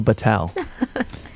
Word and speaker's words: Bhathal: you pronounce it but but I call myself Patel Patel and I said I